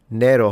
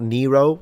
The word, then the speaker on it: Nero: If you want to read it in Latin, it's nero with a long vowel.